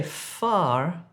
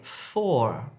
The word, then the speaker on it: for: So don't say far when you're trying to say for.